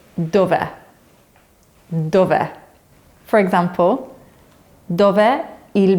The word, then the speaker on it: dov'è: So the little line above the letter E means that that's the most important part of the word that we want to emphasize with our voice.